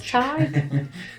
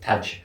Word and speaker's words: Tig: It says Tig. How would you pronounce it? Taj. Taj. It's Tig. It's Irish.